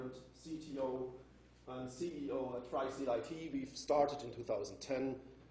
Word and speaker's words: Freistil: And our hosting platform is called Freistil Box. Freistil is the German word for freestyle, but is pronounced exactly the other way around.